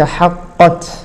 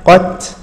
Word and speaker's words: حقت: وتعالى وكذلك حقت حقت فلو اردنا ان نقلق هذه القاف لو اردنا ان نقلق ل هذه القاف لقلنا حق حق حق حق حقت حقت فما هكذا كانت العرب تنطق يعني هذه هذه الحروف لذلك اذا ادغم الحرف اذا ادغم الحرف في الذي يليه وكان مماث له او مجانس له ف يعني لا لا يقلقل هذا الحرف كذلك حقت كلمه ربك